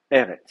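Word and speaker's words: ארץ: Eret. Donc c'est pour ça que vous allez trouver le mot Eret s'écrit comme ça, Eret, avec une forme finale du tsadé, tant qu'à faire.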